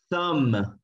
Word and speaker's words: thumb: Espero que la estén pronunciando conmigo ahí en casa, ¿no? Debt. Otra sería thumb, que es este dedito, miren.